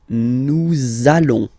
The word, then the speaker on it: nous allons: that you will have to pronounce this z sound, okay, listen to me, nous allons, nous allons.